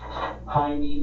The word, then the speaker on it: Jaime: The J in Jaime here is pronounced with an H sound, like it would be pronounced in Spanish. But Michael and the detective pronounce Jaime with the J sound.